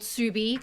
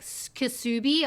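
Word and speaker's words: Ksubi: The store is called Subi, K-S-U-B-I, for all of you playing at home. Because the amount of times I would get people be like, Kasubi, I'm like, it's the K is silent.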